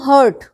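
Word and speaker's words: heart: हर्ट, हर्ट HURT हर्ट, इसको बहुत लोग यही वर्ड हर्ट बोलते हैं, गलत प्रोनाउंसिएशन बोलते हैं हार्ट के लिए। हार्ट इज दिल, और उसको मैंने देखा है बहुत सारे लोग हार्ट को हर्ट बोलते हैं, that is a different word. ये डिफरेंट वर्ड है, इसकी स्पेलिंग अलग है, मीनिंग अलग है।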